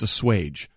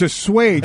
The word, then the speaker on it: assuage: The actual pronunciation of the word is assuage, not... Baker has to assuage some of those concerns. And nor is it... Can be assuaged by a 15-yard penalty. So it's assuage.